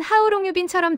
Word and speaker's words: How long have you been: 해브 때문에 발음이 좀 힘들죠. 그래서 실제로는 해브가 약해지거나 거의 안 들려요. 귀에는 하우롱유빈처럼 들릴 때도 많아요.